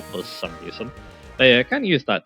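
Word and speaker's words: Reuniclus: 39 and then after that it'll evolve into Reus or ricus is some people like to call it um Reas is the um actual pronunciation but yeah um some people like to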